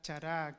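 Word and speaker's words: χαρά: en este vocabulario bíblico Esa es la palabra chará así se pronuncia Recuerda que y estoy dando estos Estas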